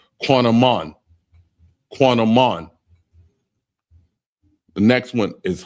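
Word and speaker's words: קינמון: And it's pronounced quanaman.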